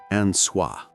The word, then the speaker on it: Anwa: And he's praying not to Christ, not to Allah, but to the almighty creator, Anwa, pronounced anah.